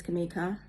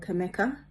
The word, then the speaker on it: Kamika: My name is Kamika and often I've been called Kameka and if individuals cannot pron pronounce my name they call me Mika or.